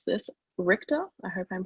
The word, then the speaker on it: Richter: um we've had debate over how to pronounce this richter i hope i'm pronouncing that correctly you got